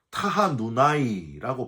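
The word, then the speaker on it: תַּחֲנוּנָי: 1절에 부르짖었나이다 라는 단어는요, 커라티카라고 발음을 하고요, 2절에 부르짖는은 타하누나이라고 발음을 합니다.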